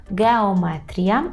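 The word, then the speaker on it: geometria: Так, алгебра, це алгебра, геометрія, скажімо, геометрія, геометрія, майже подібно, але г вимовляємо, так, і є таке іа в кінці, геометрія.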